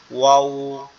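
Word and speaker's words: و: দুই ঠোঁট গোল করে কথা বলে না? ওয়াও, ওয়াও। এই ওয়াওটাও এভাবে উচ্চারণ হবে, ওয়াও, ওয়াও। ওকে, এরপরে হচ্ছে হা।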